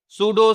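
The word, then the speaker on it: pseudo: आप जानते हो पीएस के साथ में पी हमारा क्या रहता है? साइलेंट रहता है। तो क्या लिखा हुआ है ये? सूडो सूडो hypo parathyroid ism divide कर दो। पी हटा दो। एस ई यू डी ओ ये क्या हो जाएगा? सूडो।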